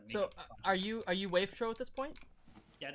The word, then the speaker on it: Wavetro: Yeah, our studio name was going to be Wavetro, which I pronounced at the time Wavetro, but just call it Wavetro now since more people say that.